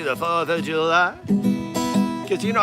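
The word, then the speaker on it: Fourth of July: 4th of July. Accent on that first syllable, it's a southern thing.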